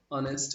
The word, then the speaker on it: honest: একইভাবে হি ইজ, এই যে এখানেও এইচ উচ্চারিত হচ্ছে না, অনেস্ট শব্দটাতেও এইচ উচ্চারিত হচ্ছে না, honest, honest এর আগে হবে an, he is an honest man. The king left air, দেখো h e i r, air, এখানেও h সাইলেন্ট,